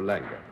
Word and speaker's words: Langer: Lang or Langer? Langer. Well, I wanted to get it right, you know. So Lang is pronunciation. Lang would be Lange, the Anglicization of Langer.